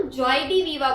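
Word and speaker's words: joie de vivre: इसे हम जॉय डी वीवा बोल के प्रोनाउंस करते हैं।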